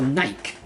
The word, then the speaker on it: Nike: Surely you should just call Nike, because the E has no accent to it. Yeah? Goddess. Yeah, but it has no accent on the E. Yeah, that's how it's pronounced.